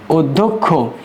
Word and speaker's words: অধ্যক্ষ: অধ্যক্ষ অধ্যক্ষ বানানটা হবে শব্দের আদিতে শব্দের আদিতে অ থাকার কারণে এরপরে জ ফলাযুক্ত ব্যঞ্জন বর্ণ আছে বলেই এই আদ্যঅ এর উচ্চারণ হবে উ এর মত যেমন উদধ উদধুক অধ্যক্ষ এটা হবে অধ্যক্ষের শুদ্ধ উচ্চারণ।